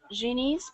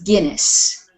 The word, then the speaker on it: Guinness: according to the the genes Book of Records he is the most uccessful performer of all time okay this word here is Guinness Guinness Guinness yes a Guinness Book